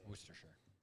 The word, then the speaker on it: Worcestershire: By the Uh, way, it's Worcestershire is how you pronounce it. Worcestershire.